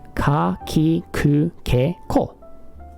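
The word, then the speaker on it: く: It's just the consonant plus the same vowel. It will always be ku.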